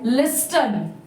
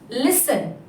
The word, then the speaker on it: listen: They read this word as listen because here T is there, but the T letter is silent here. So the pronunciation of this word is listen.